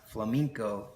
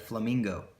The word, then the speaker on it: flamenco: I think the only thing I really learned was that flamenco is pronounced flamenco instead of flamingo.